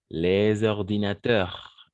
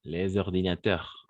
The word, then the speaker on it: les ordinateurs: Les ordinateurs. Les ordinateurs. On ne va pas prononcer le S. Pour faire la liaison, on va prononcer le S. Les ordinateurs comme un Z.